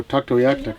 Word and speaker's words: Tuktoyaktuk: two hours you know Tuktoyaktuk that's the English pronunciation of our community how we pronounce it